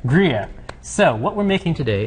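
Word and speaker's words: Gruyère: It's a hard word to pronounce. So. It is Gruyere. Gruyere.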